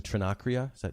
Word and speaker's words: Trinacria: But I want to read one quote that you have about the Trinacria. Is that how you say it?